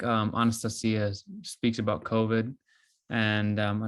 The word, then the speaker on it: Anastasia: it's just like that it rhymes with Maria it's Anastasia and uh in the